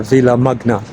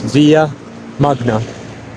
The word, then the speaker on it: Villa Magna: the Villa or the Villa Magna, if you pronounce it in English, but in Spanish it's Villa Magna.